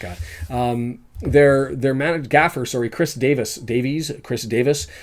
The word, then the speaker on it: Davies: Their managed gaffer, Chris Davis, Welsh pronunciation versus English or North American pronunciation. Chris Davies, this is his first head coach gig.